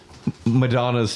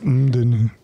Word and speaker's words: MDNA: Speaking of Madonna, Madonna's 12th album, MDNA, which I guess you could pronounce as Madonna, comes out. No, it's more like MDNA.